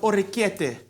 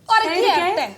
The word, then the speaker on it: orecchiette: So what I need you guys to do for me, you're gonna roll some orecchiette, Oh, okay.